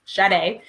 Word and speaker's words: Sade: It's spelled like shade, but it's Sade.